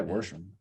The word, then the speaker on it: Worsham: So I was like, oh, that's like verb, like exactly the way your last name is spelled is the way these old Southern Indiana ladies would say, go wash the dishes. And I was like, yeah, Worsham. The R and the wash.